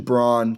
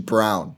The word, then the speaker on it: Braun: So EJ Liddell, Walker Kessler, Christian Braun, Kennedy Chandler, Tari Issa, I think. And actually, sorry, it's Christian Brown, not Braun. It's spelled Braun, pronounced Brown.